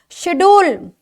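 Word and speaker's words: schedule: मैंने आपको पहले बताया शेड्यूल ये आ गया भाई देखिए शेड्यूल शेड्यूल का मतलब होता है अनुसूची यह है शेड्यूल इसमें सीएचई ये देखिए सीएचई जो है वो साइलेंट है शेड्यूल हो गया है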